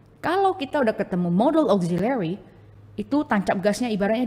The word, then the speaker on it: auxiliary: Oke, ini bacanya bukan auk ya. Pakai O aja langsung.